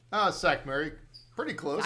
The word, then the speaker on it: Sackmary: a four-letter word my guest today is Mike sakuray am I pronouncing that right uh sack Mary pretty close s Mary all right welcome to